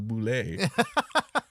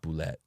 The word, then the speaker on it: bulette: that at least originally the intended pronunciation was Boule and not bullet yeah awesome I love